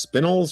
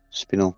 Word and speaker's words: spinel: And there are five blue is it pronounced spinnels or spinal? Spinnel. Yeah, spinnel. There are five blue spinnels each worth 500 gold pieces.